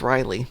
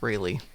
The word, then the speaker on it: Rayleigh: I've heard it pronounced Riley as well, along with Rayleigh.